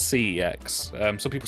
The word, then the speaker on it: CeX: or snx yeah so nobody really knows how to pronounce it like sex I say it's CeX um some people say kecks but yeah it's c-e-x